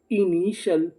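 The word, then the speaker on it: initial: अगर आप चाहे तो इसे CL भी पढ़ सकते हैं, लेकिन सही उच्चारण होता है इसका सल। तो मीनिंग क्या बनी, INI, इनी, TIAL, शल, इनिशल, इनिशल।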